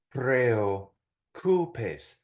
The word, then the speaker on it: preocupes: Some people have a hard time pronouncing this word because the E and the O in preocupes are both strong vowels. And so they separate into two distinct syllables, okay?